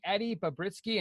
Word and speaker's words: Eddy Bobritsky: portion so and so we're gonna be interviewing Eddie Bob risky and please tell me I pronounced your name correctly correctly awesome for the